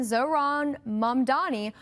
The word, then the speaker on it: Zohran Mamdani: Babbel said Zohran Mamdani, which should be pronounced again, Zohran Mamdani, was most commonly mispronounced when people swapped the M and N in his last name.